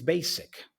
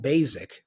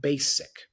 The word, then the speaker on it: basic: mind me correcting you the pronunciation of the word is basic with an S sound not z sound it's not basic but basic all right and then